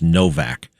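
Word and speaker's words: Nowak: It's N O W A K, but it's pronounced Novak.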